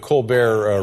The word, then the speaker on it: Colbert: are things on The Colbert Report are we still calling it the Colbert Report or yeah we have not found the pronunciation of that T yet we don't know where we left it it's good it's good